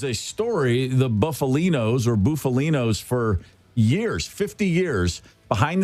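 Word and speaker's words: Bufalino: is it buffalino or buffalino how do you pronounce that name is uh Russell buffalino and it's Billy Dalia Billy Dalia Russell buffalino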